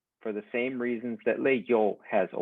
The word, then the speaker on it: leyó: Well, when you have the E, I, and the O, the I in the middle becomes the Y sound, leyó.